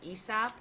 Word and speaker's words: Aesop: of you have probably heard of a sap sometimes they pronounce it ESOP and I thought there